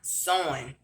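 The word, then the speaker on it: Samhain: As I'm telling y'all, to study Celtic mythology, because say one a sowing, but it's spelled a different way, but it's pronounced sowing, like sowing a seed.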